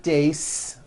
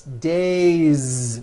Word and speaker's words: days: day or two days it's not days on voice it's days with a voiced Z ending next one